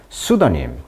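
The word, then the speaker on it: pseudonym: 가명이었다 이렇게 말하고 있습니다 수도란 말은 접두사입니다 가짜에 이런 뜻입니다 수도 피가 묵음해요 수다님 가명 그래서 여기 보시면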